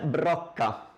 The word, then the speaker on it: brocca: Questa è una parola difficile, brocca, la brocca.